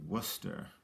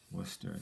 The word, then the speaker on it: Worcester: next one would be worcester worcester now this is a tricky people have trouble pronouncing this but it's w-o-r-c-e-s t-e-r worcester okay um let's travel